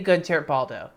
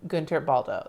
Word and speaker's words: Guentert-Baldo: But yes, that's how you pronounce my name, Guentert-Baldo. Like, it's a fast thing.